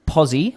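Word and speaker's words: Pozi: got a pen and a paper ready is posi which is spelled p o z i dot b e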